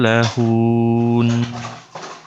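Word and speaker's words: لهن: Coba antum perhatikan di kalimat lahun. Haknya panjang apa pendek? Pendek Ustaz. Pendek. Jadi harusnya anak tekan di yang, an. Ya. ya, yang kita tekan itu di huruf nunnya, bukan huruf Iya, H.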